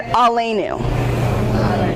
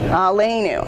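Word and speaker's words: עלינו: That's how that's pronounced, Shema. Say it. Shema. Yeah. Amidah. Amidah. And Aleinu. Aleinu.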